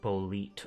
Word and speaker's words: Blet: Blet is apparently pronounced bolit.